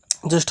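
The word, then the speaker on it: জ্যৈষ্ঠ: রয়েছে দুটো মিলে উচ্চারণটা হবে গ্রীষ্মকাল ম এর উচ্চারণটা হবে না গ্রীসবকাল হবে এটা গ্রীসবকাল জ্যেষ্ঠ জেষ্ঠ এর মধ্যে মূর্ধন্য স আর মূর্ধন্য স মানে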